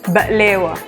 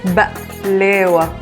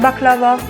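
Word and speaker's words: بقلاوة: Today we are going to be reacting to baklava, or as it is pronounced in Arabic, Baklewa. It's Baklewa. So Baklewa. So Baklewa. Not baklava, Baklewa.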